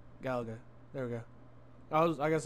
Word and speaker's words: Galaga: don't know I never really learned how to pronounce it oh it's Gallagher there we go I guess I was right